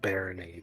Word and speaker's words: Barony: Also, also it's pronounced Baron because the goal of the game is to defeat um some baron.